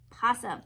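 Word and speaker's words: opossum: an au pomme but oh it's silent so the way you pronounce this is possum let's take a look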